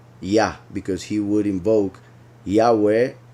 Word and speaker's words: Yah: Then, as I already explained, these two letters are pronounced Yah, as in Hayah, and as in Eliyah, and a bunch of other prophets. So Yah, as also in the Psalms, David calls Yahweh by this title, Yah.